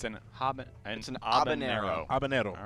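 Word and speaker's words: habanero: you do not uh you do not pronounce the h and the N does not have an NAA on it okay so it's an Hab ano abanero all right I don't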